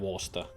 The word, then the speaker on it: Worcester: Now I know the rule is that it's Leicester and Worcester. The CE doesn't exist in the pronunciation.